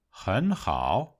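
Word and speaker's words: 很好: Tương tự đối với hěn hǎo: nó chuyển thành hén hǎo.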